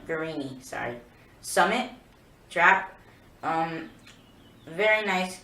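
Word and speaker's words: Guerini: So next gun is the Caesar Guarnieri. I think I pronounced it wrong. Guarnieri, sorry.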